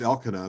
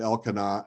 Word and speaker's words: Elkanah: from the hill country of Ephraim, and his name was Elkanah, the son of Jeroham, the son of Elihu, the son of Tohu, the son of Zuph, an Ephraimite.